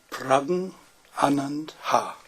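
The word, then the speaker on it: Praggnanandhaa: Okay, Jiraiya Sama tells us how to pronounce the name. It is Pragn Anand Ha.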